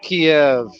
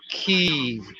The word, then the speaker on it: Kiev: You know, in all my life, I've always heard it pronounced Kiev, not Kiev. And I'm getting so sick and tired of all these motherfuckers pronouncing it Kiev.